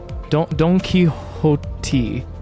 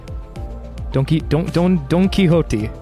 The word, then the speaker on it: Don Quixote: 요새 유행하는 X is pronounced like an 모델인가 보죠? H. Don Quixote. Don Quixote? Don Quixote.